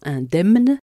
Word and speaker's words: indemne: de FAE comme quoi on prononce le M dans indemne mais pas dans danation il était interdit au